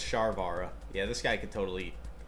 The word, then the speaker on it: Sharvara: Shavara to 0. I'm actually going to put it on there. I think that's a... I don't know how to spell it. Unchained. Sharvara. Oh, it's Sharvara.